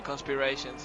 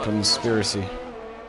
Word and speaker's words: conspiracy: No, conspiracy. Yeah, in Spanish it's conspiración, so I thought it would be quite similar to English, but it's not.